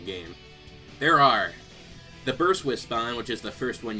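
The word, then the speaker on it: Wispon: the whis puns and yes I know some people pronounce them wisping but I heard wisp on first and that's what I will continue to call it because it's already habit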